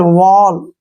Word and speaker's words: wall: जैसे नेक्स्ट है FALL, फॉल, SMALL, स्मॉल, STALL, स्टॉल, TALL, toll, WALL, वॉल, BALL, बॉल।